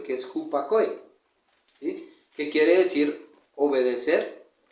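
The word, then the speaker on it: ὑπακοή: La palabra sumisión viene de la palabra griega, en el Strong 5218 del griego, tiene una pronunciación que es hupakoe, ¿sí?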